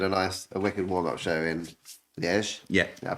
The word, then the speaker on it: Liège: And so we did a wicked warm-up show in Liège. Yeah. I pronounced that right.